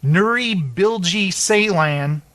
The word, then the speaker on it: Nuri Bilge Ceylan: palm do you in 2014 for winter sleep Nuri bilge Ceylan that's how you say his name return I